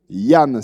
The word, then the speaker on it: Danh: Donc en fait, le D en vietnamien, écrit comme ça, se prononce comme le Y.